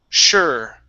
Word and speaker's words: sure: So, it sounds like this. Sh. Sure. Okay. Sure. Okay. Push the tongue forward instead of having it up like this. Okay. It's going to come down from the S. And all you want to do is lift it up.